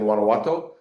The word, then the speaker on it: Guanajuato: Greg, thanks so much for the invitation back to the OTC Capital Markets uh virtual presentation and great job pronouncing Guanowato.